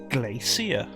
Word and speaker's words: Glacia: gonna be a puzzle dungeon a seer it's pronounced Glacia answer my query that's ice or if this